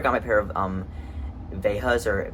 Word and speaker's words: Veja: That's where I got my pair of Vejas or Vejas, which I know that's how you pronounce it, Veja, but like I just don't like that. I like Veja better, so that's what I say.